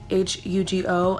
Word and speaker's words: Hugo: I call him Juice because the way his name is spelled in Spanish is H-U-G-O, and when you pronounce it in English is Hugo, and Hugo in Spanish is Juice.